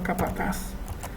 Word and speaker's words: capataz: Por ejemplo, la palabra capataz no lleva tilde porque termina en Z.